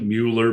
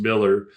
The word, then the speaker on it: Mueller: It looks like Mueller, but it's pronounced Miller because it's Dutch.